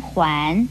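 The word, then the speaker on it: 锾: 环字的国语注音是喝完环二声环，环是古时候一种度量衡的单位名称。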